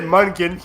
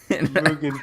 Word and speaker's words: Mugen: Yeah, he did Munkin Train. Well, that's how it's spelled, dude. English is hard. Mugen Train.